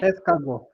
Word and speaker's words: escargot: Escargot. T is silent.